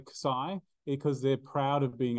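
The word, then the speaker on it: xi: name of this letter isai now it is Cai some people pronounce it Z sure whatever do what you like honestly say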